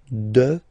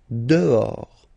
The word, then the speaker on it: dehors: Okay, so remember final S not pronounced, and then this H in French doesn't exist phonetically, so you don't pronounce it. Dehors. Dehors.